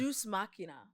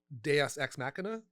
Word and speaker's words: Deus ex machina: So Deus Machina. Deus Ex Machina. Look at me not saying it correctly. How do you say it? Deus Ex Machina. Is that what you're trying to say?